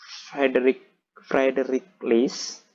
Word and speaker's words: Friedrich List: Jadi menurut Friedrich List gitu ya bacanya.